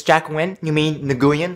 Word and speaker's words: Nguyen: So, Jack Nguyen, it's Jack Nguyen, you mean Nguyen, it's pronounced Nguyen, clearly says Nguyen!